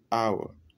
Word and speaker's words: hour: Pourtant, ici, on ne prononce pas le H.